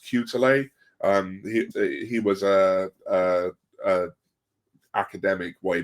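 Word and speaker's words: Quetelet: But the whole idea of the average man comes from, I think it's pronounced Cutele.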